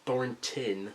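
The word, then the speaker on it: Thornton: why I know this Thor tin sorry I've literally been pronouncing it thoron my whole life thoron Wilder I'm going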